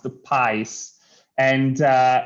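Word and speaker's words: PXiSE: i s e but it's it's uh it's pronounced the pies and uh it's um it's a company uh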